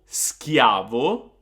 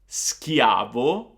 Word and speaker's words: schiavo: So it's not gonna be sh anymore, but it's gonna be sk, sk, like the English word skill. For example, schiavo, schiavo, or scherzo, scherzo.